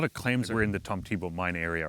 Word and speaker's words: Tomtebo: So that's how you pronounce it? Tomtebo. Yeah, okay. Tomtebo.